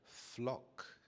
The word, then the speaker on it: flock: So when the weather is sunny and hot, many people flock to the beach. When I say flock, notice how I pronounce the F sound in flock. It's quite an extended sound.